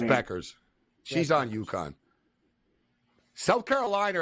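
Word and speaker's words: Bueckers: It looks like Buchers, but it's Beckers. She's on UConn. South Carolina are the best team. They haven't lost a game all year. Like there's Beckers for 3, and she misses.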